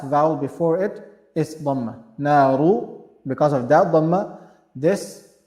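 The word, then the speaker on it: نارُ: Here we have a dhamma, so ra will be pronounced in a heavy manner. Naru, naru, not naru, ru is wrong. Naru.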